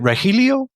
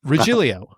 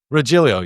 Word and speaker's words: Regilio: Uh Rilio. Rillio. Yeah. my my good friend Rob uh Miralia. So that's how we we don't we pronounce the G differently.